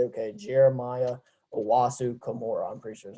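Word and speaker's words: Jeremiah Owusu-Koramoah: j okay um like who is j okay jeremiah owasu kimura i'm pretty sure is how you say his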